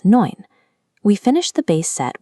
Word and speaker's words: neun: Whenever you see E and U together, they make an oi sound, like in oil. So, nine is spoken as neun.